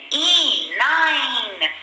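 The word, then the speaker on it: nine: N-I-N-E. 9 is also like 5. But did you see you have 2 N's here? And the letter I says its long sound. And the E at the end is silent.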